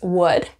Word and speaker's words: would: seconds to guess so separately it's wood just like the word w so we do not pronounce the L remember the D is